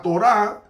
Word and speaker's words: Torá: La Torá, así es que se pronuncia en hebreo para ley, se usaba tanto para tres cosas.